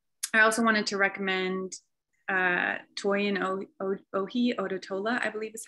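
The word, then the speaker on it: Toyin Ojih Odutola: I also wanted to recommend Toyin Ohi Odotola, I believe is how you pronounce her name.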